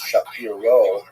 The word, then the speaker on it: Shapira: Rabbi Shapira is the common English transliteration of his name, although it really would have been pronounced Shapiro in Poland.